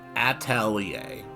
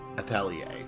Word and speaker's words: atelier: how was that again Adelaide at all yay Atelier Atelier Adelia four distinct syllables understood upstairs I own a small Atelier